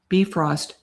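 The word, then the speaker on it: Bifröst: Pronounce Okay. Bifrost. Thank you, Morticia. I did not know how to say that. So, that's the Nordic word for that rainbow bridge.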